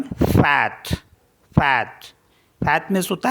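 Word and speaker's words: fête: जैसे FETE, तो इसमें सर्कमफ्लेक्स मार्क लगा हुआ है ई के ऊपर, तो इसको पढ़ेंगे हम फैट।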